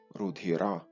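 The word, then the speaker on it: रुधिर: І з цього кореня ми маємо, наприклад, такі слова, як санскритське рудгіра, що означає криваво-червоний, тобто кольору крові, рудгіра. Ви бачите, тут навіть із грецькою спільний суфікс «р» і наголос на закінчення.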